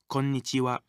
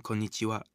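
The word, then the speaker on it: こんにちは: not affect its meaning if you find it difficult to remember this new word try saying corn itchy Wow quickly think of corns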